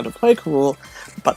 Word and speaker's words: K. Rool: Rool, whose name actually should be pronounced King K. Rool as it is in Japan, because in the Donkey Kong Country cartoon, they say K. Rool.